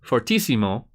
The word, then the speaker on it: fortissimo: Forte is loud too fortissimo is the way we pronounce that means really loud three